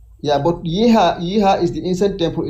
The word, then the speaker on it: Yeha: But yeha yeha is the incident temple itself.